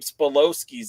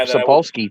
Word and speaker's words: Sapolsky: Gabe Spolowski's out there. Yeah, Gabe Sapolsky, too.